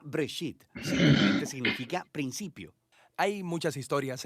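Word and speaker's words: בראשית: génesis génesis viene de una palabra hebrea se pronuncia break it significa principio hay muchas historias en el libro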